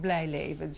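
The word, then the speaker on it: Blyleven: Have we been pronouncing Bert Blijlevens' name incorrectly all these years? You're very close, but try Blijleven.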